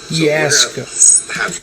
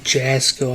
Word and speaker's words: Jasko: Yasko. It's Yasko, not Jasko.